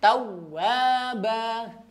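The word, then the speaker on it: تَوَّابًا: Baik, terakhir tawwaba. Perhatikan panjangnya ya, konsisten. Tawwaba. Nah, 2 harokat.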